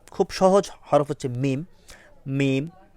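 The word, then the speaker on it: ميم: মিম মিম মিম হরফটি আমরা দেখতে পাচ্ছি ঠোঁট থেকে উচ্চারিত হবে।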